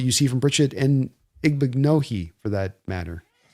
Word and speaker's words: Igbinoghene: see from Brissette and Igbinoghene for that matter. Yeah, it's Igbinoghene. I learned how to pronounce it because it kind of rhymes with mahogany.